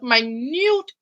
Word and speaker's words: minute: So, it's the study of science of minute parts of the body. Minute, like minute, but you just have to pronounce it in a different way.